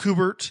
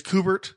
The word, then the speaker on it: Kubert: be like bukima uh just like kubert is kubert with a hard it's art T bear cuz he's Canadian so he's got that frenchi spelling or whatever but the Americans say kubert apparently so but I've been